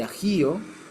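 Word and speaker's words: אח: se dice hermano en hebreo se llama a aj se dice hermano en hebreo y cuando aquí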